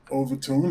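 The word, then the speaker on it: Overtoun: strange thing strange events and this town called overtone overtone it's in Scotland it's a good listeners how to pronounce it it's o-v-e-r-t-o-u-n overtone has got a famous bridge and the bridge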